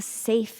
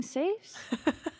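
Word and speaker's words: Saiph: another strange question um you don't have a safe in here do you the Locking kind no are there non-locking safes well for a second I thought you're asking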